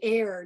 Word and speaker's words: heir: read and write, then they learn the silent H in words like hour, what hour of the day, or the heir to the throne, and honor, and so forth.